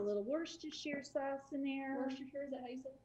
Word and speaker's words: Worcestershire: worcestershire sauce in there wash your hair worcestershire i know that's a tough one for a lot of people right they don't know how to say it so we put that